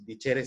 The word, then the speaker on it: dicere: griego, que viene dicere, así dicere se pronunciaría, se escribe dicere, que significa, por ejemplo, el arte de enseñar.